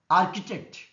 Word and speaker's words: architect: Architect, it is a trisyllabic word, first syllable is stressed.